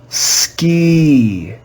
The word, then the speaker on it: ski: of the word however in this word the letter i does not make the sound e it makes the sound